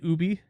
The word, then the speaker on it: Ubi: I've been trying to train myself to say Ubi, because that's how they say it.